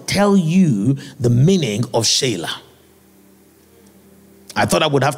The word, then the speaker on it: Selah: Right, people call the word Selah, but there's no word Selah in Hebrew. Right, is the word Shelah.